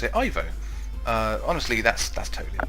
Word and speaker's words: Ivo: a lot of people prefer to pronounce it Evo honestly that's that totally up to you really Evo to me sounds more like evil which is appropriate also technically Evo it's the correct pronunciation in the same way that you would